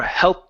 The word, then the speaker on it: health: I would minimize that th and pronounce sort of like half the sound and then move into the d.